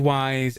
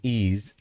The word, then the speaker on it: Ys: It's called Wise and it's pronounced Ease. Okay. So, it's pronounced Ease.